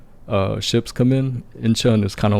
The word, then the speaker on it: Incheon: It's I say it's Incheon, but like Incheon. of course I think like the native Koreans, they will pronounce it just a little bit different.